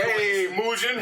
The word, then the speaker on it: Mugen: So his name is pronounced Mugen. Mugen is the character, one of the characters from Samurai Champloo.